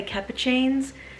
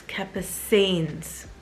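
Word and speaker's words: Capucines: is the raffia capacines I'm always wanting to say cappuccines because that's to me how it's spelled but a viewer correcting me and it's Kappa scenes Saints Naomi the next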